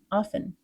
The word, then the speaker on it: often: We reduced other common words, like can became can, and often became often with a silent T.